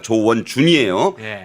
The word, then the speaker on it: 조원준: 어, 댓글창에 뭐 조원진 우리공화당 대표하고 발음 헷갈리지 말라 그러는데 정확히 발음하겠습니다. 조원준이에요.